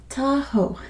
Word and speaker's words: Tahoe: very easy to pronounce it is Tahoe there's an e at the end it is silent it's just Lake Tahoe